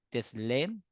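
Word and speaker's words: צלם: Entonces, como en el original del Antiguo Testamento es el hebreo, imagen se pronuncia teslem y semejanza se pronuncia demut.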